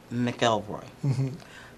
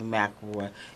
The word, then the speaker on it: McElroy: My mother says McElroy. My father said McElroy. And so since the death of my father, I have started saying McElroy in honor of my father, and